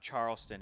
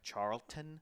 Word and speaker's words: Charlton: gonna say it wrong it's not Charleston it was like Charlton oh okay I'll give